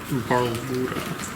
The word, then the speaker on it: Barlgura: Can you spell that for me? BRLRGRA. B-A-R. I'll be honest, it didn't help at all. B-A-R-L-G-U-R-A. Barlgura. Barlgura. Alright, lore is only a 15. Balgora. I'm just gonna say Balgora because saying Balgora is annoying.